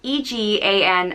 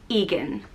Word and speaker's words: Egan: similar one is egan which means fiery and it's spelled e-g-a-n and is pronounced egan egan another variant is athen which means white